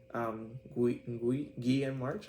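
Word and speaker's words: Guillem March: Guillaume March, I think it's pronounced, because he's a Spanish artist.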